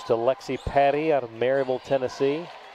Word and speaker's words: Maryville: Cross court it goes to Lexi Patty out of Maryville, Tennessee. They pronounce it Merville up there, M-U-R.